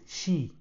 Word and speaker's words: Qi: Se não sabes o que é isso do Ki, é o nome do padrão universal de carregamento sem fios e pronuncia-se Xi. Basicamente, o carregador cria um campo magnético e o telemóvel capta essa energia.